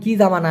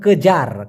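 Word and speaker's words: kejar: কেজার একটা হলো কেজা এটা কিন্তু কেজা না এটা হলো কেজার কেজার মানে হচ্ছে দাবড়ানো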